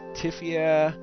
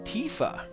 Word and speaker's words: Tifa: Because Tifia would make it sound like there's an extra letter there that's missing. And Tifa just doesn't sound right. So Tifa, T-I-F-A, I think sounds the best.